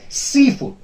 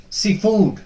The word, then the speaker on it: seafood: word will be suppressed then we have seafood but does not pronounce it as seafood no that is wrong seafood seafood the first part will be citrus in case of compound